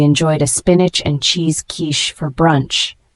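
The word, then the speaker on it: quiche: a luxurious layered cake the word Kish spelled Qi c h e is a noun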